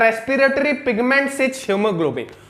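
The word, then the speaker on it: hemoglobin: Respiratory pigment क्या है, हीमोग्लोबिन। ये स्पेलिंग ऐसा होता है, हेमोग्लोबिन मत पढ़ देना, कुछ बच्चे स्टूडेंट्स कुछ पढ़ दिए थे भी एक बार, मैंने उनको मना किया था, ये हीमोग्लोबिन, पर तुम्हें तो लिखना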